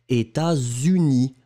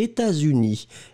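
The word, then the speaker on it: États-Unis: ne comprenez pas d'accord on fait la liaison états dont on ne prononce pas le thé mais il y à un ace et puis après unis et vous fait la liaison états unis ont fait pas de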